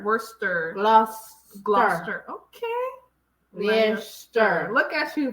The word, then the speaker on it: Gloucester: Cester is pronounced stir. Cester. Yeah. Leicester. Worcester. Gloucester? Worcester. It's not cess. It's Stir. Yeah. Worcester. Worcester. Gloucester.